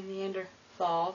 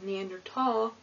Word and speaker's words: Neanderthal: now some people say neander th some people say neander tall I think the correct way to say it is neander tall so if you hear